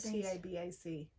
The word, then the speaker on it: tabac: you say the word T-A-B-A-C? Tabac? Like tobacco, basically, without the tabac.